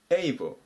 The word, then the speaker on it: able: 発音に注意ですね。あっていうふうに読み始めないように気をつけてください。